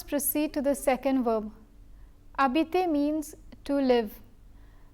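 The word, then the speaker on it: habiter: to the second verb a BT means to live the H is silent because it is a mute H since such an H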